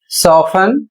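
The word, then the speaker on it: soften: अगला शब्द है एस ओ एफ टी ई एन इसे पढ़ा जाएगा सोफन और इसकी हिंदी होती है नरम करना।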